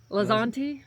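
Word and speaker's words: Lanzante: Oh, and I just looked up how to pronounce this earlier and I've already forgot it. Lzanti.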